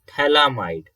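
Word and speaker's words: phthalimide: note this compound is known as thalamide okay ph is silent and thalamide and again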